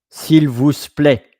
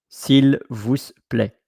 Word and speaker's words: s'il vous plaît: But sometimes, probably most of the time, when there is a T at the end, you don't hear the T. You don't say s'il vous plaît. S'il vous plaît. No. You say s'il vous plaît. Like play. Like let the music play, but without the A. Like play. A short play. Like from play to play. S'il vous plaît.